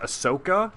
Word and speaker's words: Ahsoka: I think it's pronounced ahsoka you don't say shoka I think it's ahsoka like hard s correct me if I'm